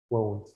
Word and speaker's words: won't: Listen to mine, I'll pronounce it again. First one, want. Second one, won't.